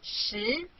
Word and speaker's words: 十: This is its syllable 十.